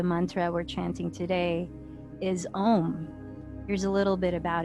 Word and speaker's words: om: sound as well so when pronounced correctly om has four syllables and it is pronounced